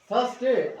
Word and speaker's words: Thursday: थर्सडे, are silent होता है, थर्सडे पढ़ते हैं हम, आपको लगता है कि ऐसी होगा, है ना, ऐसा होता है।